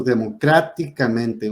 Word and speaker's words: democráticamente: Todas van acentuadas, como en este ejemplo, democráticamente, 1, 2, 3, 4, 5, en la quinta sílaba de derecha a izquierda.